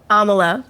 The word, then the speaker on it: Amala: um your name I'm going to try to pronounce it uh Amala Amala perfect Amala yeah okay yep that's pretty